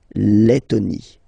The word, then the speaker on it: Lettonie: So remember when you've got this E and then a double letter like that, T, okay, then you will have to open your E and it will become E, les, Lettonie.